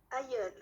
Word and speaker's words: aïeul: C'est juste, ma soeur Zara, j'ai prononcé. Aïeul.